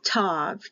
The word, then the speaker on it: tav: the hebrew basic alphabet is tav t a v the king james version